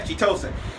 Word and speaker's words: Chitose: Yeah, Chitose.